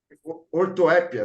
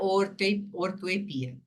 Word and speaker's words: ortoepia: a parte da gramática que trata da correta pronuncia da palavra em português ortoépia né alguma coisa assim ortoépia ortoepia isso mesmo vocês têm isso no material aí